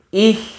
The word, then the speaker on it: ich: Ich liebe dich. Ich liebe dich. Ich liebe dich. Oke? Bener apa enggak kalian? Ayo. Nah, ini artinya I love you. Ich, IH, CH kan dibaca H.